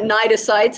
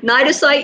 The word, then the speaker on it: cnidocyte: You do need to know what cnidocytes and nematocysts are.